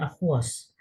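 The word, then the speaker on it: aqueous: Ya, akhi ini dibacanya aquos ya atau dibaca larutan dalam bahasa Indonesia.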